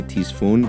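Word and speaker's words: Ctesiphon: Seriously, it downloaded faster than I could say Tisfun, which used to be the heart of the ancient Persian Empire and also where the game takes place.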